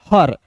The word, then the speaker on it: her: ठीक है जी, चलिए अब देखते हैं यहाँ पे HER, तो HER को पढ़ेंगे दोस्तों हर। अब देखिए यहाँ पे ई जो है दोस्तों साइलेंट होगा।